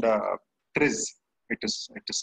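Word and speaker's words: TRIZ: innovation happens there is a tool called uh tris it is it is spelled t r i z it's it's a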